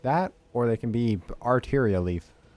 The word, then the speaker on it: Arteria Leaf: It might be supposed to be pronounced arteria leaf, but I always want to pronounce it like Altaria from Pokemon for some reason. It's not spelled that way. It's art, not alt.